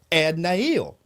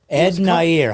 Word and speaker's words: Ed Nair: En-Nail. Ed Nair. How do you spell that?